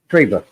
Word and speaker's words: Trevor: Yeah, that's it's pronounced Treva. Oh, Treva. Okay.